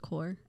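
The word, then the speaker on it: Kaur: it on purpose yeah my last name is pronounced core uh and then i added the n-y so it's core and y say one more time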